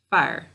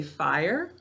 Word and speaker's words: fire: So we usually say fire. To spell it though, to spell it correctly, we need to say fire. So just one syllable, fire.